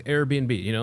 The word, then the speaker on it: Airbnb: that you're like, hey, it's Airbnb. Like the word air and B&B, like bed and breakfast.